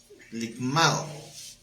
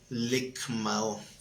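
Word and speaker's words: λικμάω: desmenuzar en el griego es la palabra limao cargar esa palabra no licmao con cada kilo Lic con cada quien más o acento en la a Aunque Sí su traducción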